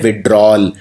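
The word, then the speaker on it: withdrawal: यहां पे याद रखिए इसको लिखते हैं विड्रॉवल, लेकिन बोलते हैं विड्रॉल। तो ये वाला जो ए है ये बोलने में आता नहीं है, लेकिन ये आएगा, स्पेलिंग के अंदर आएगा।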